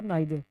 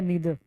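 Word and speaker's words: neither: और दोनों में से कोई नहीं तो नाइदर या नीदर। दो प्रोनाउंसिएशन होती है इसकी, एक नीदर भी होता है, एक नाइदर भी होता है, एक अमेरिकन है और एक ब्रिटिश है।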